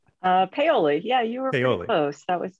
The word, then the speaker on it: Paoli: the program did i say it correctly uh paoli yeah you were failing that was good yeah